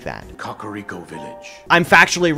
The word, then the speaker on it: Kakariko: Did you just say Kakariko Village? Yes, that is how you pronounce it. In one of the opening cutscenes of Breath of the Wild, King Rome pronounces it like that. Kakariko Village.